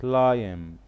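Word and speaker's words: climb: كلير كلاين كلاين كلاين كلايم تنطقش البي كلاب كلاب كلاب ساحل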